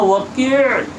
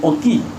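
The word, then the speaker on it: وكيع: তিনি একবার তিনের উস্তাদের কাছে গিয়ে বললেন, তিনের উস্তাদের নাম হলো ওয়াকি'। নাম কি? ওয়াকি', আরবি শব্দ। হয়তো আপনারা বাংলারা বলবেন ওকি, হ্যাঁ, দেখেন এক ভাষা আরেক ভাষা দিয়ে উচ্চারণ করা যায় না।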